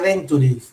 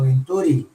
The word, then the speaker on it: Venturi: No se dice Venturi, sino Venturi. Venturi es el nombre del físico que describió el fenómeno. Giovanni Battista Venturi, italiano.